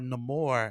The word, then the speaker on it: Namor: I think that uh name or or no more as they pronounced it in the movie um he loved his